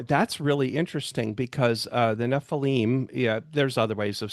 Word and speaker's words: Nephilim: Yeah, Nephilim.